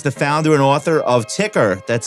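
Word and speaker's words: Tker: Sam Row is the founder and author of Ticker. That's spelled TK ER, an award-winning newsletter covering news, data, and insights informing long-term themes for investors and the economy.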